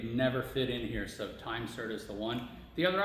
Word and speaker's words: Time-Sert: Yeah, time Time insert, or is it Time-Sert? Time-Sert. Time-Sert. Even I say it wrong. So it's Time-Sert is the company, not Big Insert.